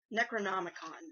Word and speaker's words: Necronomicon: I can never pronounce this right. Necronomicon.